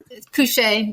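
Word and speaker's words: kouche: Can you talk a little bit about it and actually pronounce that correctly? Cushe means to put to sleep and it refers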